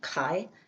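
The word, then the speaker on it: חי: The one with the hey it's and is um kai which is life life.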